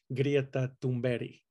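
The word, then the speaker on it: Greta Thunberg: love greta and they love to pronounce her name correctly which is grieta dumbari and they do it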